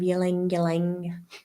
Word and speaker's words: ylang ylang: add 3 drops of ylang ylang. How do you say it? Lang lang. Is the Y silent? I like the way you're saying it. Ylang ylang.